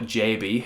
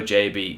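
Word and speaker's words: Gyabi: that we have bought a player in darko jb who i've now found out his name is pronounced jb through watching the um uh legionated official first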